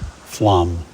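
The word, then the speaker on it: Flåm: Flem, pronounced Flam.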